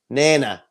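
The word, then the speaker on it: Nenagh: Turles yeah and what's the correct way to pronounce Nina Nana Nana but anyway nana will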